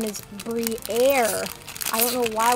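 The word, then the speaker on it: Briar: We have Salandit, Diplin, Pansear, Meditite, Lumineon, Marowak, Toadscruel, Fido, Togedemaru, and oh my goodness, we have pulled the full art Briere, that's how you finally say her name.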